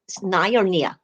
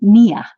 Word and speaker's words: Nia: offering your night classes Narnia it's pronounced Nia Nia your classes online or